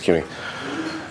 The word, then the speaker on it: CUNY: CUNY, I may be saying it wrong. No, it's CUNY.